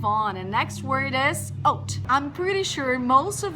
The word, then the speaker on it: haute: And next word is oat. I'm pretty sure most of you have already seen this word. Pronunciation is not hout, is not hot, is oat.